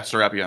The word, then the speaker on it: Serapion: Serapion? Yeah, Serapion.